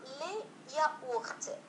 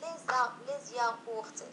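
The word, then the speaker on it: les yaourts: هنا لي ياورت، لي ياورت، إذا لا نقول لي زياورت، لا يمكن أن نقوم بلا ليزون، نقول لي ياورت يعني دانونات ماذا يسمون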